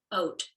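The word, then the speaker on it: אות: It's pronounced ot.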